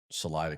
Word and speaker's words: Salida: Um there's probably not a lot of sevenfooters walking around Salida, Colorado, right?